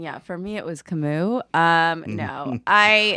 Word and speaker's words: Camus: for me it was camus um no i i said one time oh man this is so embarrassing one time i pronounced it canvas and uh and then